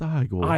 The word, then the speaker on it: Igor: Are you Igor? It's pronounced Igor. Igor. Well, they said it was Igor. Well, that was wrong now, wasn't it?